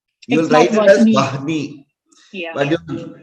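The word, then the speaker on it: वह्नि: You will write it as Vahni, but you pronounce it as one he.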